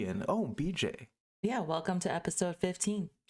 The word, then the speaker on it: BJ: We have over here not PJ, not DJ, not TJ, but BJ.